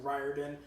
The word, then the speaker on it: Riordan: His full name is Richard Russell Riordan Jr., and a lot of people get his name wrong, but his family always called their last name Riordan, which I had a hard time dealing with.